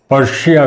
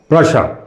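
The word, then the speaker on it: Prussia: अब लिखा हुआ है प्रशा, प्रोनाउंसिएशन उसका प्रशा है, लेकिन लोग पर्शिया बोलते हैं। पर्शिया डिफरेंट कंट्री है जो पुराने ईरान को रेफर करता है। ये एक्चुअली प्रशा, इसको प्रशा कहें तो ज़्यादा अच्छा है।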